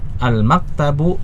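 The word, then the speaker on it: المكتب: Al-maktabu, kita lihat ada alif lamnya, sehingga kita tahu bahwa ini tidak boleh kita baca al-maktabun, ya, kita baca al-maktabu.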